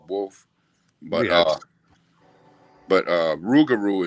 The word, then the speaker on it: Rougarou: but uh but uh Rougarou is just a the way Cajun people say it like a shortcut like you say ain't instead of isn't you know what I